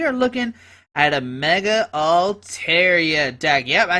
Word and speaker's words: Altaria: and today we are looking at a mega all Tera deck yep I said it right Mega alar